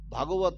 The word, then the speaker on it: ভগবত: কি শ্রীমৎ ভগবত গীতা, এখানে আকার কিন্তু নাই। এই জন্য উচ্চারণেরও আমাদের এই প্ল্যাটফর্ম, এখানে উচ্চারণেরও আমাদের সঠিকটা আমাদের একটু জানা উচিত।